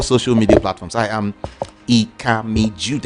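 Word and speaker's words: Ikami Judeh: I am Ikami Jude. It's spelled IKAMIJUDEH.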